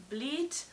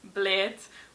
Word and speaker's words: Bled: A lot of people pronounce it Bled, or I don't know what else I've heard, but yeah, Bled is obviously pronounced Bled.